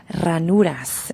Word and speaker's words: ranuras: The the grooves that we've been talking about that the Walara Country Club has, they're called ranuras in espanol. You got to roll your R when you say that.